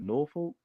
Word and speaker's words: Norfolk: Yeah, you don't say it that bad though, for real, because it's Norfolk.